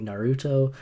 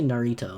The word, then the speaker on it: Naruto: I was like, all right, what's something weird that I could just pronounce wrong on purpose? And I was like, Naruto. Let's just say Narito.